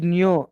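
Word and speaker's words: ν: Sir, but we have used like V symbol like That is nu. That is nu. Frequency nu. We need to pronounce as nu. Nu.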